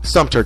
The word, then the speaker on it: Sumter: again into slavery the Turks of Sumter County Suter County that's how it's pronounced were uh were either Pirates or escaped